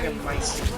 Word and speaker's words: Megamycete: Now, I still can't please pronounce that. don't It's worry, Megamycete.